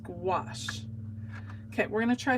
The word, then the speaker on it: gouache: how do you pronounce that word it is pronounced gouache okay we're going to try something else we're